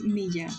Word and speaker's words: Milla: It's Milla, not Mila.